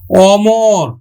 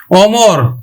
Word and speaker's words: অমর: অ ধ্বনিটা যদি আবার নেতিবাচক অর্থ দেয় তাহলে কিন্তু সংবৃত উচ্চারণ না হয়ে বিবৃত উচ্চারণ হবে যেমন অটল অটল অমর অমর অটল অমর তারপরে নীতিবাচক